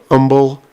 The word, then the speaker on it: Humble: Um he um lived in a place called Umble, Texas. Now, Umble, Texas is spelled like Humble, Texas.